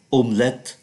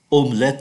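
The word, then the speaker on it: omelette: De La Pa omlet chúng ta không phát âm cái T ơ này omlet omlet La Mer pula me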